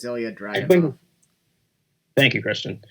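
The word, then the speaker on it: Ilja Dragunov: Finn Balor against I cannot pronounce this guy's first name. It's Ilya Dragunov.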